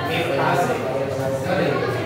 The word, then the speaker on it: Myrtaceae: Myrtaceae. Ordo Myrtaceae, famili. Ordonya Myrtales. Myrtaceae. Kalau ada CA itu bacanya C.